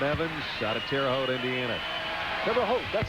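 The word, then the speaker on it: Terre Haute: guys Brian Evans out of terot Indiana terot that's how you say it terot I worked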